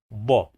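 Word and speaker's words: ض: The sound of this letter is ba, ba, ba, ba, ba, ba. It is a strong D.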